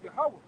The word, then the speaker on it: Yahweh: God, which his name in the Hebrew is Yahweh. He come out of the tribe of Judah too.